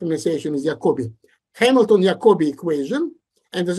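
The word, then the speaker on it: Jacobi: special name it's called The Hamilton yakobi people pronounce this name jakobi that's the correct ation is yakobi Hamilton yobi equation and as a matter of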